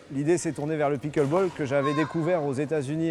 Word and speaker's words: pickleball: Le pickle ball, alors ça se prononce pickle ball, ça vient des États-Unis.